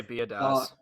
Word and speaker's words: Biadasz: Is it Badaz? I would say Biadasz. Biadasz is how I pronounce it.